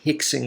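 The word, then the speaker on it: Rickson: beginning of a word it becomes an H so his second R in cardo that R is an R like a normal R but the the first one becomes he so that's why I'm pronouncing is named that way in case you're wondering so just like hoist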